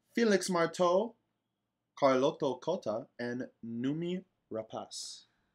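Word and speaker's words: Noomi Rapace: marteau carlotto kota and numi rapas the actress who we have all been mis pronouncing her name as naomi raw piece uh that there's no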